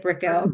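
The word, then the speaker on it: Brickell: at brickl is that how you say it brickl brickl Avenue yes brickl Avenue condominium which is a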